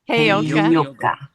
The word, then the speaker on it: Heyoka: Heyoka.